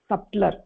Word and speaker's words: subtle: subtler we don't say subtler right that subtle right that b is actually silent so we say subtle